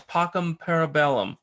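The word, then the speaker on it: Pockhamparabellum: the latest album cv's pockham parabellum am i saying it right because i've heard different well it's it's i believe you can say visa or whis but other than that you got it right yeah it doesn't i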